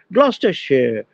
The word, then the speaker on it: Gloucestershire: But they will pronounce as share, no longer as shire. Gloucestershire, Leicestershire, তাই তো।